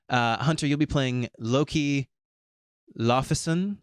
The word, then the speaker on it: Laufeyson: Hunter, you'll be playing Loki Laufeyson, I think is how it's pronounced. Yeah. It's like Laufey's son.